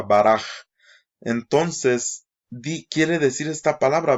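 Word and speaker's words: ברך: Bendecir, bueno, no se dice Barak con K, se dice Baraj, porque la regla gramatical es que la última letra en esto es suave y es una half sofit, se llama, y se convierte en una pronunciación como si fuera una J, Baraj.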